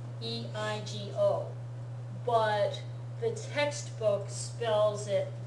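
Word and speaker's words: 英語: They did it because the pronunciation of this should be like this, right? Eigo. They don't want you to mispronounce it Eagle, because that's not how it's really pronounced.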